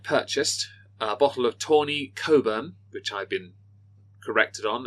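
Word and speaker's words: Cockburn's: a bottle of Tony Coburn which I've been corrected on at last which he had been incorrectly pronouncing no point at no point had David told me it's not pronounced cockburn it's and he had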